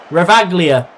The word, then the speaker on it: Ravaglia: Good save from Ravaglia.